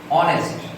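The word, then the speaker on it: honest: যেমন rules number 6, অনেস্ট। এইচ এর উচ্চারণটা অ এর মতো হয়েছে, যার কারণে এখানে অ্যান বসবে।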